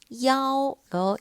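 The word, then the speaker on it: 幺: 그리고 이런 상황에 숫자 1이 나오면 2라는 발음이 아니고 야오로 읽어야 합니다.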